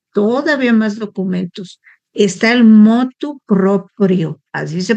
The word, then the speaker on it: motu proprio: Está el motu proprio, así se pronuncia.